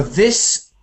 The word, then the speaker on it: this: into one sound so this has an a fish sound like fish and chips and these has an e sound like a tree so we've got this